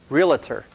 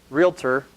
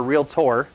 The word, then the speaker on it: realtor: first in the business it was my habit to call him a realtor use making it a three syllable word realtor but if you look on the screen at how it's spelt it's a two syllable word realtor or real tour and I had a